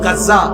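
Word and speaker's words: غزة: এগুনতে মানচিত্র আখতে গিয়া বর্তমানে ফিলিস্তিনের গাজ্জা যেখানে আপনারা গাজা কন আরবির উচ্চারণ হইলো গাজ্জা।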